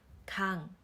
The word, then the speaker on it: 강: and the third consonant, it You need to read the pronunciation of NG, for example, Kang 강 Kang 강.